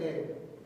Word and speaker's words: heir: It's an A.